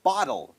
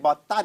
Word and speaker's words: bottle: ว่า ขวด นะ ครับ bottle ไม่ ใช่ boton นะ ครับ เป็น Bottle นะ ครับ จริง ๆ มัน